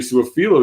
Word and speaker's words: Su'a-Filo: I talked about what Xavier Su'a-Filo did when he came in. That's how he pronounces his name.